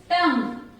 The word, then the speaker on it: tongue: Then next word is tongue. Tongue. So here what is silent, children? UE is silent. We read it only tongue. Till G we pronounce.